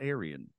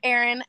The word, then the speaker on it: Aaryn: I'm glad to know your name's Aaron not Aryan yeah so it's pronounced Aaron and the funny thing